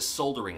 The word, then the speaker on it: soldering: iron or is a soldiering iron I've heard both I've been calling a soldering iron my whole life but I think that the British pronunciation is soldiering which makes sense to me I'll continue to